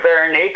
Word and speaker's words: Veronique: Thank you, Veronique.